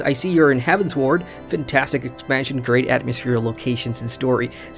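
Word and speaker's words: Heavensward: got cause cogs and Chad says it's pronounced heavens ward thank you he says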